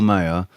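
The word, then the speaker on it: Maher: uh the the the it's spelled m a h e r Bill mayor um Joe Rogan Roseanne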